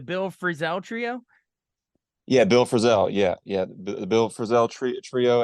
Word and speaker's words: Frisell: Yeah, Bill Frisell.